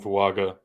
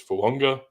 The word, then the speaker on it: Fuaga: But the traditional pronunciation of his name is Fuanga, as is like the Polynesian, like those island traditions of there is that A before a consonant in the middle of a name. The AG is Ung.